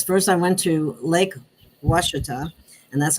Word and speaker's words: Ouachita: Well, with my experience, first I went to Lake Ouachita, and that's how you say that. It doesn't look like that, but that's how you say it.